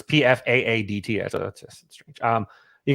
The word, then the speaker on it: Pfaadt: It's Pfaadt.